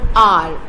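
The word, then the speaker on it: hour: In the word R, we have used an R. H at the beginning of the R is silent.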